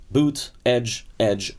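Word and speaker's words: Buttigieg: they say is the best way just say two edges like off the edge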